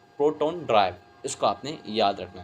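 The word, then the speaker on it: protandry: हम क्या बोलते हैं, प्रोटोन्ड्रे बोलते हैं। क्या बोलते हैं, प्रोटोन्ड्री बोलते हैं, प्रोटोन्ड्राई actually, this is actually correct pronunciation is द प्रोटोन्ड्राई।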